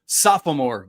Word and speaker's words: sophomore: I also want to commend you on your pronunciation of sophomore. Getting that second O in there, Marlo. That poor second O in that word always gets left out.